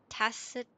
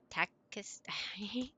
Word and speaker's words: tacit: Yeah, tacit is an English word and it's pronounced like with an S.